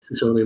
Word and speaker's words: Shoshone: I don't know how to pronounce that correctly. Shoshone, maybe, yeah, Shoshone.